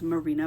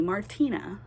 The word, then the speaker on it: Marina: gotten my name wrong the way my name alliterates a lot of people really want to call me Martina it happens constantly Marina